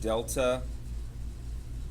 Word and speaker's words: delta: And that's um that's pronounced delta deltay over delta x. And um um delta delta is just a Greek letter and it means um we use it in math is we mean change.